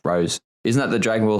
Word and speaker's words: rosé: Rosé. I think it's pronounced rose.